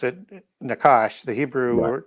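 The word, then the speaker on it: נחש: Yeah, we pronounce it Nakash. The Hebrew Right. pronunciation would be more like Nahash.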